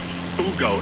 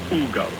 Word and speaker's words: Hugo: Ugo, it's spelled Hugo, but you pronounce it Ugo.